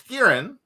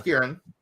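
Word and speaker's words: Skerrin: yeah we don't even know his name was kieran blaine he told you his name his name was kieran how do you spell that s-k-e-r-r-i-n okay and he works for anders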